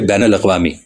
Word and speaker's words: بین الاقوامی: آسان بھی ہوتا ہے۔ ایک لفظ ہے بین الاقوامی۔ اب بین کے نون پر زبر ہے، مگر اردو کے اکثر